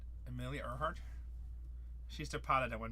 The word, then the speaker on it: Earhart: Isn't it Earnhardt? It's spelled Earhart in here. I feel like there's an N missing. It's Earnhardt, isn't it? I'm not stupid. I mean, don't answer that. Gotta Google this now. It's Earhart, no N.